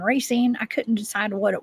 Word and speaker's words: Racine: Justin says it's pronounced racine. Thank you. I said racing and racine.